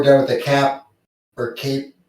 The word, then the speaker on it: CAIP: I mean, I think we're done with the cap or cape. How do you pronounce that?